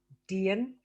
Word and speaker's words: Dian: So you're right, it is Dian.